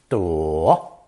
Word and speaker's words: 朵: Pronounced third tone, 多, 多, but neutral tone when paired with 耳.